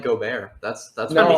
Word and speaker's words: Gobert: It's pronounced Gobert.